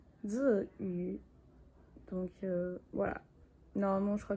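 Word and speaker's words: Tzuyu: Là je suis en montage, je viens juste vous dire que en vrai, genre même en chinois, j'ai mal prononcé son nom. On dit Ziyu, donc voilà.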